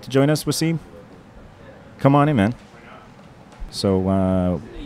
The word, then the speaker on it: Wassim: Wassim is a lot for people to handle sometimes. Yeah. Even though I understand it's not a common name, but it is 2 syllables.